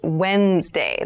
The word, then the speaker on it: Wednesday: day of the week but keep in mind this is pronounced wednesday there's a d there